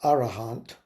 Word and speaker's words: arahant: thank you you so arat in poly it's pronounced arahant and uh literally it means a worthy one